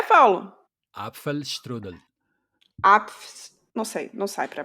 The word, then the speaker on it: Apfelstrudel: Mas a pronúncia está marcada assim, com apfel. Porque Apfel. depois, em português, a gente não pronuncia o L como L no fim, né? A gente pronuncia tudo como U. E isso Sim, também dificulta. Mas aqui na pronúncia está descrito com L.